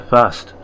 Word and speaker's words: first: Or to use a proper pronunciation, I got there fast. And for those English scholars, that's the proper pronunciation for first in Norfolk was fast.